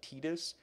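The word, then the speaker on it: Tidus: now spend two decades arguing about whether it's pronounced Titus or tetus it seems what I can find that it should be tetus but I've said Titus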